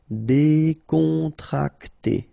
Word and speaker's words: Décontracté: Okay, so you've got an accent aigu here and here, so it's E. Décontracté.